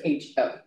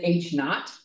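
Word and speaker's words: H₀: The null hypothesis goes by the characters HO. It's like it's a subscript, the O, they pronounce it H-naught or H-O, either one works.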